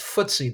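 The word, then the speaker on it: FTSE: it's called It's pronounced footsy the footsy 100 index uh this stands for financial time stock exchange change the financial times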